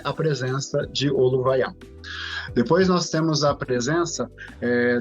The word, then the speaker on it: Oluvaiá: Oluvaiá, também chamado de Aluvaiá, as duas pronúncias são corretas, significa movimento.